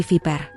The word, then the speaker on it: viper: Hahaha, iya sayang, hampir benar, bukan piper tapi viper. Coba ulangi, V. Ibunya menekankan bunyi V sambil menggigit gigi atas bawah tipis-tipis, memperlihatkan cara pengucapan.